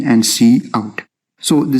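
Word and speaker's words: cout: we have c o u d which we pronounce as c out and it stands for console output and this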